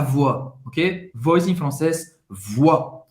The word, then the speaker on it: voix: Voz em francês, voix. O I tem o som do wa, como se fosse O-A. Wa, wa. O X no final, você não vai pronunciar. Tu chantes de tout ton corps, de tout ton corps.